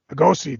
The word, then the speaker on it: Lugosi: Lugosi, thank you.